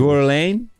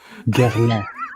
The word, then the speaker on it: Guerlain: Am I pronouncing that correct? No, not even close. Guerlain. Guerlain.